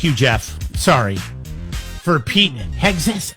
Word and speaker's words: Hegseth: For Pete Hegseth. How do you say his name? Hegseth. Just like it's spelled.